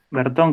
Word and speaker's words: Bertón: tu apellido bertón overton bertón con acento en la vocería creo que ahí no está escrito pero va con acento casi me arrancó los